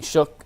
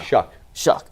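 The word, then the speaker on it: Shough: Yeah. Shuck. You know what's funny? In my head, I say it right every time, and then it just comes out wrong.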